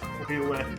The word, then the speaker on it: Toilet: Toilet. My name is Toilet. You gotta throw another E on there to make it French. No, the ending in T and you don't pronounce the T.